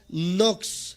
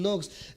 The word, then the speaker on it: Knox: primero de estos grandes hombres se llama Juan nox se escribe K n o x kn n o